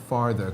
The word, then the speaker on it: farther: question, father, père, et farther, comment tu différencies la prononciation? Ah, ok. That's a good one. Father, il y a un R, enfin c'est subtil, mais on l'entend quand même, farther.